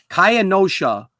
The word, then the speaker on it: Kenosha: How do I pronounce this? I have this written down here. Oh, Kaya Nashawa. That's the name of the city here. Kenosha, Wisconsin. Kenosha. I have to go slow with this. It's Kenosha, Wisconsin.